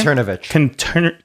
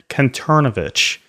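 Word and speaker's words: Kanterovich: Conturnovich. Conturnovich And I was asked by the then Sonic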